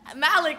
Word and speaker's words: Malecc: Malecc, yeah.